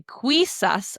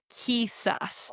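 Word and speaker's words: quizás: Now notice I didn't say quisus, I said because I'm practicing that K sound. Whenever we see queu or quui, we're pronouncing it as the k sound in English. Kissas.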